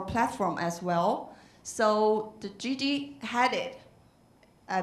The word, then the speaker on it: Gigi Hadid: So the Gigi Hadid, I pronounce well? Yeah, Gigi Hadid, ranked #1.